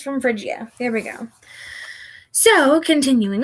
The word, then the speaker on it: Phrygia: Phrygia. Marsyas from Phrygia. There we go. So, Marsyas from Phrygia.